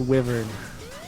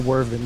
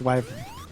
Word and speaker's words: Wyvern: giving me OC OT it's it's wyvern wyvern well yeah either wyvern or wyvern work if I'm not mistaken it's not wven though I've never heard wyvern